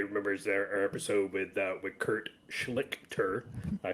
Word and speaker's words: Schlichter: Everybody remembers our episode with Kurt Schlichter. I pronounced it right this time.